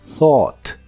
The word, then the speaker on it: thought: el pasado es thought la th sigue siendo la th suave de inglés el grupo de letras u g h no se pronuncian en esta palabra y la o de en s se pronuncia de manera profunda thought thought puedes usarlo